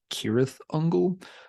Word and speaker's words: Cirith Ungol: that Elvish tongue however words that begin with the letter c tend to have the hard k sound almost all the time so the name should be pronounced kirith Uncle which is why I